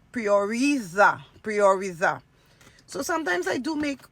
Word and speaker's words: prioriza: And I was saying prioritiza when it's prioriza.